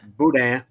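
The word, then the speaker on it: boudin: try so she she she'll tell me can you go down the Walmart and get some Budan and I'm like stop it's pronounced Budan okay this is my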